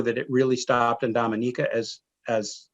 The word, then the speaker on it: Dominica: some tour was to be sure that we pronounced it dominica so that they were not to be confused with the dominican republic so they're very sensitive